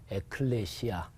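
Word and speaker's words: ἐκκλησία: 헬라어로 발음해 보면 바실레이아 이렇게 발음해요. 그리고 교회는 에클레시아.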